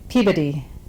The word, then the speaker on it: Peabody: I mean, I've been to Brockton, I've been to Peabody. Did I say that right? You pronounced it correctly?